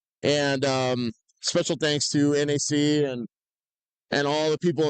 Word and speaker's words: NAC: her new son yeah rhymes with Knack NAC yeah I was just